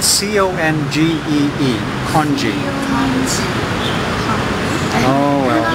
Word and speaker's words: congee: a soup with much with rice in it congee congee congee what's congee in english it's spelled c-o-n-g-e-e kanji oh well it's it's rice it's probably my